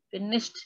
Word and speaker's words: finished: Finished. Bacanya E-nya jangan dibaca ya. Bacanya gini. Finished. Kata kerja ketiga dan kata kerja kedua tulisannya sama gini juga.